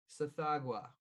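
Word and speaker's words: Tsathoggua: lava to sacrifice to this god who is pronounced sathagwa and uh it's apparently just this like toad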